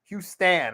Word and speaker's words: Houston: Houston, I should say. It's like Houston pronounced with Stan instead of ton.